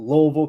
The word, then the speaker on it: Louisville: Not Louisville, Louisville, Kentucky. That's how it's said.